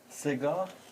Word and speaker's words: Segah: It's called SEGAH, or how do you pronounce that? SEGAH is the name of one of the dastgah in Persian classical music.